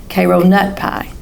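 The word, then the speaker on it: Karo nut pie: And the proper pronunciation must have higher inflection on nut. Cairo nut pie.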